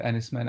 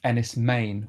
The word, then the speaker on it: Enys Men: horror so tell us a bit about about enisman I mean I thought it was also called Enis men I mean actually I found out since that it's pronounced um Anis M which is means Stone Island which um is